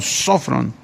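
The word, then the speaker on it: σώφρων: se tradujo del griego sofrón sofrón tiene acento en la primera sofron y se tradujo prudente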